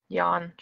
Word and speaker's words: Jan: Jan. Yeah, just imagine Y-A-N. He looks like he's very yawn-worthy. Okay, got it.